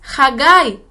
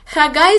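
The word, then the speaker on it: חגי: En hebreo su nombre es Haggai. Haggai se escribe con las letras Het, Gimel, Yud. Haggai.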